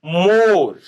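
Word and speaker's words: more: का sound is silent then हम कहते हैं मोर मोर मोर तो मोर में आप देखें एम ओ आर ई तो ई का साउंड नहीं आ रहा है तो ई इज साइलेंट उसको अंडरलाइन करना है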